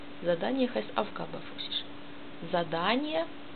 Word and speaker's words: Задание: Задание, Sie lesen Transkription, Betonung auf A, Задание, auf zweite oder dritte Silbe. Die Betonung ist deswegen auf zweite Silbe, weil das Wort ist länger und besteht aus drei Silben und nicht aus zwei.